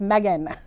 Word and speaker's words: Megan: I'm like, no, it's Megan. Yeah, I would say I lean towards Megan. Yeah. The way it's spelled.